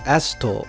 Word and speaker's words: AST: You know, in Japanese it's pronounced asto, as if you pronounce it all together, but saying asts is awkward and I'm only going to use it in this sentence.